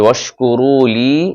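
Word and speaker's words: وَاشْكُرُوا لِي: যে ওয়াশকুরু লি, এখানে এক আলিফ টেনে বলতে হবে।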